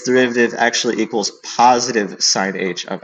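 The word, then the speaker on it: sinh: derivative of sine of h, no, derivative of sine h of x, that's how it's pronounced, that is just cosine h of x.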